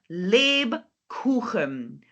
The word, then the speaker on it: Lebkuchen: And then we have this, not this time u. We don't have the two dots. We have ooh. Genau. So this time we have Lebkuchen. Frau Whittle, Lebkuchen.